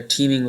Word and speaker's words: teeming: Don't confuse this with the word team, like a sports team, which is pronounced exactly the same but spelled differently.